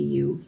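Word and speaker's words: ewe: She was dressed as a U. This kind of U. E-W-E.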